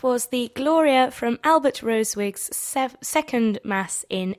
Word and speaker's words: Rosewig: His surname is spelt with a capital S, so capital R, small o, then capital S, E-W-I-G. And he did this so that people would pronounce it in the original German manner with 3 syllables.